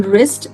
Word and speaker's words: wrist: and R, the letter W stays silent. तो जैसे कि ये वर्ड्स WR से बिगिन हो रहे हैं तो इनमें मैं इनको राइट नहीं बोलूंगी, मैं इनको wrong नहीं बोलूंगी. I'll say right, I'll pronounce it as wrong, then wrist and then wrap.